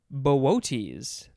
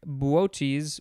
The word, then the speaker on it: Boötes: All right, next we have, I think it is pronounced Boötes, something like that. It is spelled capital B-O-O-T-E-S, but the second O has the umlaut, which is the two dots.